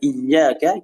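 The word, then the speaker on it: إياك: Jadi pada saat pengucapan iyyaka kita jelaskan huruf tasydidnya.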